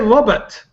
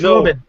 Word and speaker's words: Robin: I thought you said Robert, but it's Robin.